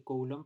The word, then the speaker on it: Coulomb: Coulomb se escribe Coulomb, pero se pronuncia Coulomb.